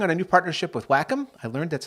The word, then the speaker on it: Wacom: uh we're working on a new partnership with wacom i learned that's how you pronounce it by the way and we're happy